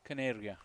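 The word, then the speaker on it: Kaneria: It's D Caneria. Canary. Like a canary. Like a bird.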